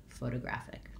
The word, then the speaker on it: photographic: In American English, that T between those two unstressed syllables becomes more of a flap, sounds like a light D, photographic.